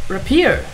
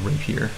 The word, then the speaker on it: rapier: cool she has a sword she has a repair no it's actually called a rapier sorry yeah i know i thought repair sounded